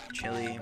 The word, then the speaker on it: Chile: Chile, whatever. I've always called it Chile because that's how they pronounce it.